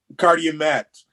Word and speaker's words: Karyemaitre: Karyemaitre, kind of like in that cartoon movie Toy Story. The character Tomater, imagine him telling McQueen, "It's a car you met the other day." Karyemaitre. Yeah, Karyemaitre.